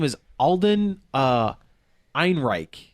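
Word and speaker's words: Ehrenreich: name is Alden uh Ein I think that's how you pronounce that name yeah like Ein Reich very very German very sounding name yeah so I have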